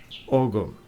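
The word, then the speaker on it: Ogham: differences in pronunciation because what I want to say is om which is the ancient Gaelic writing system but my pronunciation is in Scottish Gaelic. An Irish speaker might say something like but in old Gaelic it would have been pronounced oum.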